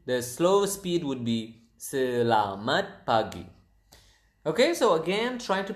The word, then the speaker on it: selamat pagi: It is selamat pagi.